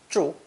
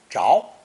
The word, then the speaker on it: 着: It developed 4 different pronunciations, keeping the original 4th tone zhu, but adding unstressed zh, 2nd tone zháo, and 2nd tone zhuó.